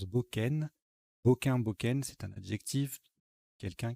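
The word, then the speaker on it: bocain: Alors, ça ressemble à cocaïne, hein, mais on prononce Boken.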